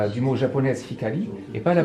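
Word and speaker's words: 光: Pour dire le sens, par exemple, lumière, en chinois, c'est un mot qui ressemble à koro, et en japonais, ça se dit hikari.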